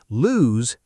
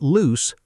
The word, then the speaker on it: lose: Lose like the word news or shoes, that z sound at the end. Exactly right. Lose, not loose, not loose, lose with a z sound.